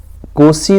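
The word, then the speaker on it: Nkosi: दिया हुआ है national anthems and visions of white singing कोसी सैक्लेल E Africa. इसको कोसी पढ़ेंगे, एन साइलेंट रहेगा, ठीक है।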